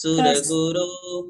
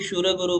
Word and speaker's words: सुरगुरु: हाँ, कई लोगों के उच्चारण में स की जगह श शक्कर वाला होता है, तो जैसे सूरगुरु को भी शूरगुरु पढ़ेंगे, उसे थोड़ा सुधारने का प्रयास करें।